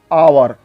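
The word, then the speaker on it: hour: जैसे आवर means घंटा, इस शब्द में एच है पर साइलेंट है।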